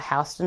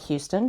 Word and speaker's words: Houston: Make sure you call it Hston, not Houston, should you ever decide to go because that's how the locals say it.